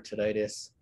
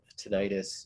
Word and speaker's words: tinnitus: is soda good for tinnitus i don't know if i have a lot on my blog about tinnitus you could pronounce it tinnitus or tinnitus either way it because tinnitus is